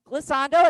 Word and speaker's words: glissando: Dawn, So, how do you spell that word, Cassando? glissando, it's on the sheet.